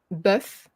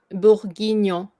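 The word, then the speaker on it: bœuf bourguignon: So it's bœuf, B, bœuf, oh, like yeah. b, So if you remove the B, it actually that word, if you remove the B, it actually means egg in French. Oh, so you, So oof, but buff, you add the B, so it becomes beef, bœuf, buff, bourguignon. bourguignon, Yeah. buff, So it's 3 bourguignon. syllables.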